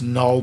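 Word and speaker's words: Knull: face was created by Canal I know it's null but it's spelled with a K because I don't know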